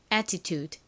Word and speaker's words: attitude: 다음 U가 오는데 한국식으로는이 단어를 애티튜드 보통 이렇게이 유을 유로 표기하지만 실제 발음은 우로 소리가 납니다. 그리고 디귿 소리 나는 D가 오고요. 떨거지 2가 오면 완성입니다. 자, 발음 연습해 볼게요. attitude 한 번 더 해 볼게요.